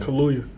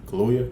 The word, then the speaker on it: Kaluuya: Kaluuya. Kaluuya.